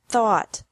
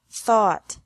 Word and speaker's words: thought: teach taught taught think thought thought remember that the g is silent in these verbs verbs with three different